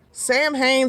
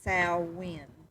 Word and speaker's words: Samhain: So Sam Hain, Sal Wayne, Gaelic, Gallic, Celtic, Celtic.